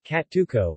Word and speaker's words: Cacciucco: kachuko italian pronunciation katuko is an italian fish